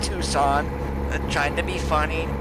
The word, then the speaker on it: Tucson: long before we're through Tuscan here yes I know it's pronounced Tucson but trying to be